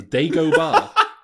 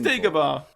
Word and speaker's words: Dagobah: The Dago Bar? What's it called? These aren't the droids you're It is Dagobah. Dago. But Alec Guinness pronounces it Dagobah.